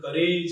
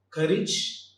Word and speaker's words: courage: Often we pronounce these two terms like courage and heritage. Age should not be the N. The N should be ij. Courage and heritage.